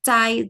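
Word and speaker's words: 再: Nah ini yang z c ini itu dia terdengarnya tuh seperti c gitu. Cai cai z a i. Cai cai. Iya cai. Iya. He cai cai cai cay. Betul. Nah. Jadi untuk yang bagian ini walaupun dia ada Z-nya dia tidak dibunyikan Z gitu.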